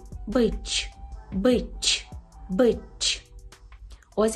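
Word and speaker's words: być: Так, отже, «ц» з рискою читається як «ч», це є м'яке «ч», «ч», наприклад, у слові «бич», «бич», «бич», так, це «з»,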